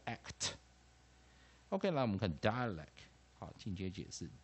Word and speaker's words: dialect: rhymes 在哪里？ect 啊，ect 也就是在 ack。这个地方押韵的地方在 act，我们讲连起来发音的连音在 act。OK，来我们看 dialect，好，进阶解释 d，啊，i syllable a syllable l